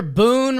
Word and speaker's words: Boone: watching bony and reminder Boon rhymes with spoon make sure you get